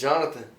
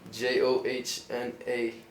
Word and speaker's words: Johnathan: My name's Johnathan. That's a long name. It's not spelled like other names though. Okay, how's it spelled? Johnathan. It's Johnathan. Exactly. But the way you pronounce it is just regular.